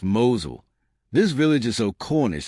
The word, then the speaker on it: Mousehole: Number 11, Mousehole, Cornwall, pronounced "Mowzul".